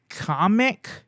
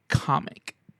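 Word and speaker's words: Kamek: was shown to be in there and Kamic um the blue wizard guy. I always thought it was pronounced kamic, but in the trailer they pronounced it comic.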